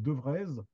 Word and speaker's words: Devrez: Il va être marié à Nicole Devrez, je prononce à la française, parce qu'il y a 2 E, enfin il y a 3 E en tout, qui l'a connue parce